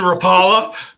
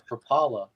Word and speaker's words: Rapala: you actually mr mr rapala mr rapala all i have heard my whole life is propola and i hear a